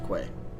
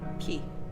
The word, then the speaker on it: quay: She can often be found working late at the school, the building right across from the quay. Key. What? That's how you say it. It's key. Key.